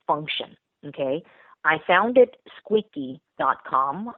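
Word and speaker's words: Squeeqee.com: okay I found it squeaky calm it pronounced like the word squeaky clean but we spell it differently s QE e QE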